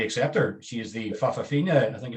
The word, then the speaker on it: Fa'afafina: She is the Fafafina, I think it's the term.